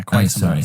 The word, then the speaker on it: Quatermass: Yeah, Quatermass. Sorry. And I know there's been different stuff like that. There was that film, and I've forgotten it now, where he finds. I've seen it. Is it the Quatermass experiment?